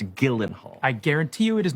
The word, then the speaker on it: Gyllenhaal: No, Gyllenhaal. Your name is pronounced Gyllenhaal.